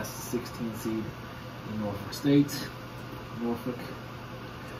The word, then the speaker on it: Norfolk: Norfolk. It's so weird how they pronounce those Norfolk. It's folk. It's spelled folk, but it's pronounced fuck.